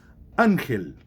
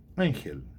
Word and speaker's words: ángel: Ángel. Ángel. Singular de ángeles. Anjo. Ángel. Muito bem. Ángel é acentuado. Por quê? É uma palavra grave não terminada em N, S ou vogal.